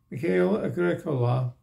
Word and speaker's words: Mikael Agricola: Mikael Agricola, accent on the first syllable, is written right here in the history, as in most Finnish words, not compounds.